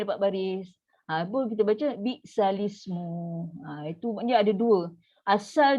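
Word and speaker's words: بئس الاسم: So kita akan baca bi'salismu. Itu cara baca. Tapi tetap juga bila kita tak faham kaedah pindah-pindah lah, iltiqat sakinain, kita baca salah lah. Kita akan baca ni. Bi'sal ismu. So kita putus kan.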